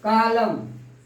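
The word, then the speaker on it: column: Atom, atom, कालम, कालम, एन का pronunciation नहीं होता है।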